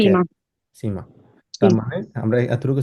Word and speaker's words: Zimmer: সীমা, জিমা না সীমা, কারণ এস কে সেট, সেট কে Zimmer. সীমা।